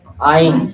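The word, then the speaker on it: עין: 그래서이 이거 아이는 사실 우리가 발음 안 되는 발음이고 굉장히 문에서 깊이 나는 발음이고 다른 사람 대국인들에게는 그로 발음되는 것처럼 하 우리는 레스토랑이라고 이야기하지만 원래 프랑스 사람들은 이렇게 하잖아.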